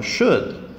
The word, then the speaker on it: should: you're talking for example should sure you're only saying SH o UD the L is silent number one firefighters firefighters